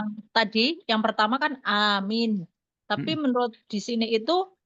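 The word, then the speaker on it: آمين: Yang tadi yang pertama kan a min, tapi menurut di sini itu a-nya panjang.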